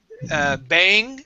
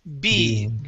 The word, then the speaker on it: being: This word here, instead of bang, it is being.